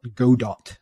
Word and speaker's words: Godot: it it's kind of it's spelt go dot but i think it's actually pronounced godot i was toying with